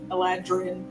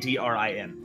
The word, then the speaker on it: Eladrin: Aladrin. It's actually spelled differently, but whatever. To remember how to say it. Eladrin.